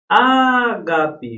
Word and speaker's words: ágape: Ágape, gente, ágape é proparoxítona, gente. Essa sílaba que é a antepenúltima, beleza?